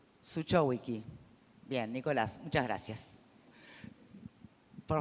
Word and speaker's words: Zuchowicki: Y nos está acompañando uno de sus directores, Nicolás Sukovic. Ay, perdón, ¿cómo lo pronunciamos? ¿Cómo es? Decímelo una vez y me lo aprendo. Suchowicki.